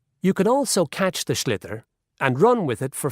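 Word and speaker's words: sliotar: this ball called a slither that's SL IOT a or so it's not spelt the way it's pronounced u his ears into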